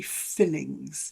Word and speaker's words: fillings: say I had three fillings. Yeah, had three fillings. Pronunciation is quite e interesting. So with this one, obviously the confusion is that I and the longer e.